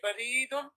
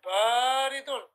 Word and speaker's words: بارد: صغير أحسنت وبارك الله فيك اقرأ يا حذيفة اللبن بارد والماء حار أحسنت وبارك الله فيك So look brothers, notice how حذيفة said اللبن بارد He didn't say بريد He said بارد And then he didn't say والماء He said, wal-ma'u.